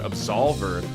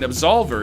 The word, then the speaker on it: Absolver: And finally, I had the pleasure on the third day to actually check out Absolver. And Absolver, it's easy to remember who published it because it rhymes, is Devolver's publishing it because they're not making it, game, Devolver Digital.